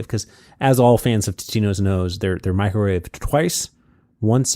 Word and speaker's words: Totino's: It's pronounced Totino's. And, it's Totino's.